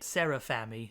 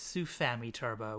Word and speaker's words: Sufami Turbo: If you were here last session, you'll note I was saying it wrong the entire time, calling it Serafami. No, it's Sufami Turbo, which was a SNES add-on, basically designed to emulate the fancy internal chipped carts like Star Fox.